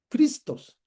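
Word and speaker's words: Χριστός: Así que Cristos se pronuncia como Cristos. con el énfasis en la omicron, no cristó con el énfasis en la yota como en español.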